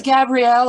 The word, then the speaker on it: Gabrielle: Am I pronouncing it right? It's Gabrielle or, because that's easier to say, or you can call me Gabby if that suits you.